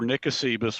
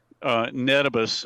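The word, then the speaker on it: Ngesebus: there was this little island just to the north across the causeway called Ingusibus, or Nicosibus, or Netibus, as people in Palau pronounce it, but I've always just called it Ingusibus.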